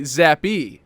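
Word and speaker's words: Zappe: Is Bailey, how do you pronounce that? I want to say it's actually Zappy, apparently. Zappy. I didn't know that, but it is Zappy.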